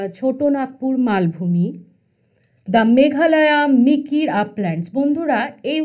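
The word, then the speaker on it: Mikir: নাগপুর মালভূমি, দ্য মেঘালয়া মিকির আপল্যান্ডস। বন্ধুরা এই উচ্চারণটা একটু ভালোভাবে খেয়াল করবে, অনেকে এটাকে মিরিক বলে ভুল করে দেয়, কিন্তু এটা কিন্তু মিরিক নয়।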